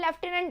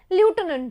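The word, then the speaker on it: Lieutenant: ल्यूटेनेंट इज लेफ्टिनेंट, जो हम लोग बोलते हैं लेफ्टिनेंट है, लेकिन एक्चुअली में ल्यूटेनेंट होता है।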